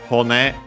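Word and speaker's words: 骨: But yeah, hone on its own means bone. Let me actually check its accent. Accent on the last syllable.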